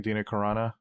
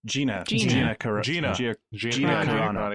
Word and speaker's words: Gina Carano: and also forgetting her name is Adina something Tina Caronna who played a Gina Carano yeah yeah Gina Carano so I totally butchered her name but I thought I've seen